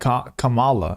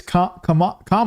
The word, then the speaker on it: Kamala: Camala Harris Camala Harris that's how I always thought you said it CU they said it so much like Camala it it they always said it like that so I had to unlearn that and start saying Kamala you know or I now I'm confused I don't even it's comma right that's what it is I'm pretty sure